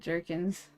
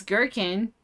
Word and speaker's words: gherkin: Some people pronounce it jerkins. It's hilarious. That's what I just did, but I know it's gherkin, but for some reason it said the other way.